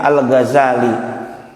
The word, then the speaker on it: Al-Ghazali: Ada juga yang membacanya zainya itu dengan tasdid Al-Ghazal, tapi itu tidak umum, yang artinya pemintal, tapi umumnya Al-Ghazali. Seperti bapak menyematkan kampung kelahiran